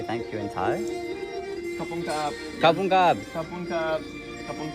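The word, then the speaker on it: ขอบคุณครับ: Kapung kap.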